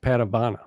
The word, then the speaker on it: Padavona: patavana first of all your last name is pronounced patabana right that's correct that's what i thought